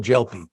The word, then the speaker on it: Gelpi: And he says no, it's a soft G, like in general. So I'll call him General Gelpi.